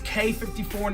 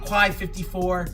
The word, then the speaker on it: Quai 54: Yes, it's K54, not Quai 54. Even though it's spelled Quai, it is K54.